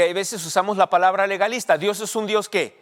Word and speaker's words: legalista: es muy leísta pero no se dice leísta se dice legalista de ley si vas